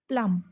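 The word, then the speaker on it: plumb: अब इस वर्ड को हम इसमें भी एम भी है। बी साइलेंट करके हम इसको क्या पढ़ेंगे? प्लम।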